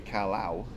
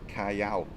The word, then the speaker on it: Callao: And if you look at it, it's even Calio's wrong, because it's Callao. So it will be Calao, if anything. But the double L is actually pronounced Y, so Callao.